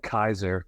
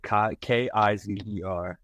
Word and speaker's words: Kizer: Give me a Deshaun Kaiser for the Packers and Browns. Fish. Nope. It's DSH. How do you spell that last name? Yeah, nope. Kizer.